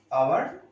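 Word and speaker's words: hour: H silent is there. H silent. Dash our. Dash honor. Dash air.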